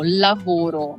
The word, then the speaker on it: lavoro: Vivi in Inghilterra per lavoro? How can I say in Italian? Prima per studiare e poi per lavorare. Perfetto. E avete un buon lavoro. The V is V, like in French. Esatto, lavoro.